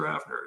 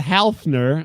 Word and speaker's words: Hafner: That silent L joke. We've never. That was a riff. I'm going to keep that one. That was a good one. You set me up with that. I'm not Halfner.